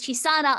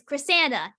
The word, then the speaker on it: Chisana: Chichi come from so originally my name was chisana I on the internet but everybody kept pronouncing it as chrysana even though that's I don't know where they got the r from but they just